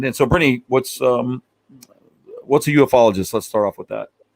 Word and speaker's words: ufologist: They'll say ufologist, UFOologist, but it's actually pronounced ufologist, and that was created by the wonderful J.